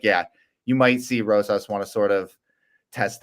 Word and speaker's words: Rosas: I also have a decision for Rosas. Oh, and we hit the over on mispronounced names. So, which one did I miss? You didn't pronounce it's Rosas, not Rosas.